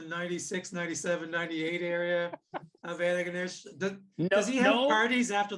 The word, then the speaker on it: Antigonish: How You many- have the accent on the wrong syllable. Yeah. I'll just keep going. I'll do as many Antigonish. Antigonish. We used to Usually have people say Antigonish. yeah, but you're way off.